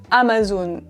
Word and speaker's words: Amazon: Prononciation. Amazon. Amazon. Amazon. Ok. Amazon. Pour moi, c'est Amazon.